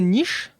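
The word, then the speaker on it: Niš: Mais du coup Nice à ne pas confondre avec Nice écrit N I S avec un circonflexe inversé sur le S H prononce prononcé niche qui est une ville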